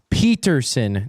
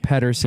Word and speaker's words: Pedersen: It's Peterson, not Pedersen. Peterson, yeah.